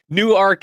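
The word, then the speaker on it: Newark: New Arc is how it's pronounced in Delaware.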